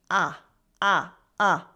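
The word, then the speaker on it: à: mean at or to It's pronounced a a a the accent doesn't have an influence on the pronunciation of a a shows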